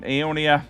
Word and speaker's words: Aeonia: Um, Aeonia, that's how you say it.